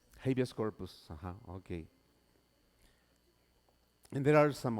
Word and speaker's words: habeas corpus: Habeas corpus. Habeas corpus.